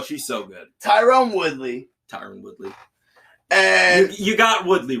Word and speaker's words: Tyron: so good tyrone woodley tyron woodley and you got woodley wrong it's tyron for whatever reason he goes by tyron it's not tyrone it's spelled tyrone it